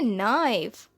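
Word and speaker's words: knife: छुरी को इंग्लिश में कहते हैं नाइफ, नाइफ, यहाँ पे केस साइलेंट है, और टर्किश में कहते हैं बिचाक, बिचाक।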